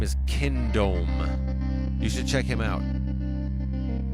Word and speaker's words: Kindohm: Kindome is his name. It's spelled Kindohm. Kindome.